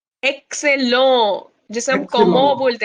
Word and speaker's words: comment: जिसे हम comment बोलते हैं ना, comment.